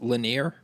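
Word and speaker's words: Lenire: I'm also looking at the tinidis section on your website and is it is it pronounced lineer? It is pronounced lineer.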